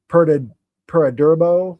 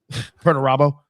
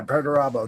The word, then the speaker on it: Perdurabo: Peradurbo or something. Oh yeah, yeah. I'd have to look at it to say it right, but yeah, that's one of Crowley's many alter egos. Perdurabo. Yeah, Perturabo.